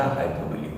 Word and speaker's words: hyperbole: उसका स्पेलिंग भी मैंने आपको बताया था, HYPERBOLE, और उसका प्रोनाउंसिएशन था हाइपरबोली।